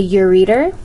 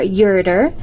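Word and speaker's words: ureter: of those was a urer or urer it can be pronounced both ways a urer is going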